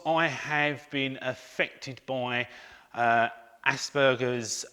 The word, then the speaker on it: Asperger's: action for Aspergers now Asperger's has got a hard G although you will hear me say Asperger's as well as Asperger's I've been saying the word so long now the wrong way that is quite hard for me to say it the